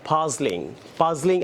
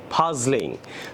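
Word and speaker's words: puzzling: সো আসেন আমরা এই রতে মাঝখানে আপনার পাজলিং, আমরা অনেকে পাজলিং বলি, উচ্চারণটা হবে ফাজলিং।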